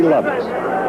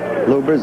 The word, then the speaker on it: Lubbers: I'm a Tali against Rudy lovers or lubbers it's pronounced both ways lubbers is probably more technically correct anyway it's the way Rudy wants and said those but